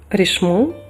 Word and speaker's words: Richemont: До речі, я напевно неправильно її вимовляю, мабуть, рішму правильно казати, але як річмант її також багато хто знає, вимовляючи на англійській манер.